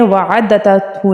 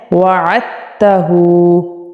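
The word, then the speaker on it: وَعَدْتَهُ: अब यहाँ पर हमने वअदतहु नहीं पढ़ना, लोग गलती कर रहे होते हैं। यहाँ पर आपने क्या पढ़ना है, वअदतहु। आइन को ता के साथ मिला देना है, अपने दाल को साइलेंट कर देना है।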